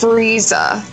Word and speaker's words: Frieza: him that what he's called z8 Raisa its Frieza that's how he pronounces it he says it all the time